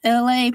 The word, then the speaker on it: Elay: My name is LA. Pronounced like LA, like the city on the front there, but I'm breezy.